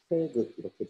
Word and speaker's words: 태극: 태극을 이제 중국에서는 타이찌라고 말하고 한국식 한자어 발음은 이제 태극 이렇게 되는 거죠.